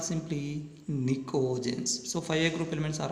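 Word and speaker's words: Pnictogens: Next, these are also called nicogens. Nicogens, here P is silent.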